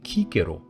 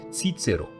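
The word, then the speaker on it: Cicero: cisero as an example we know that the C was pronounced as K so the name would have sounded like Kiko and not tiero which is how it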